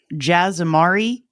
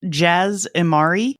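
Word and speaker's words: Jas Emari: To help out you guys who haven't heard the audiobook, it's Jaz Amari and Sinjir Rathvelis. Oh, is that how you say it? That's how they're pronounced. Say it again. Jaz Amari and Sinjir Rathvelis.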